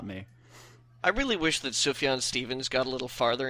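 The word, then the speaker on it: Sufjan: pronounce it I said I used to say SF jam and that's wrong it's su su sfan San Steven sufan chish Gambino says it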